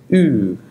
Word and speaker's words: ü: Our first sound is ü. Ü. This sound does not really exist in English. A similar sound to this would be when pronouncing the word look with a Scottish accent, such as look.